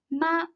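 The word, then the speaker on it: 妈: look at this character ma means mother in english please read after me ma ma this voice stays flight with no rise or deep when we pronounce the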